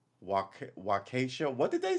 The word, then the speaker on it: Waukesha: The incident is being investigated independently by the Waukesha.